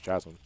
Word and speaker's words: chasm: been pronouncing chasm as chasm. Because I see a CH in front of it, and I want to pronounce it as chu, but apparently you have to pronounce it as a hard K.